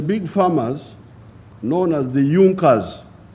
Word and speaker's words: Junkers: it are the big farmers known as the yunkas it's written in junkers but it's pronounced as junkers in the german kingdom of